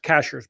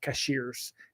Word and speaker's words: Cashiers: It's it's pronounced cashers, by the way, not cashiers.